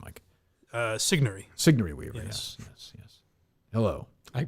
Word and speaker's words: Sigourney: I mispronounced her name, Mike. Sigourney.